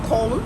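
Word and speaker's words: Köln: in cologne hollow germany or colon as the locals call it cologne is how americans say it cologne has the most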